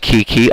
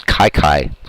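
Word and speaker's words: Kiki Cuyler: out two away here I know a lot of people say the pronounced Kiki I did for years but uh after doing some research his last name is Kyler and uh yeah it's Kai Kai still feels weird to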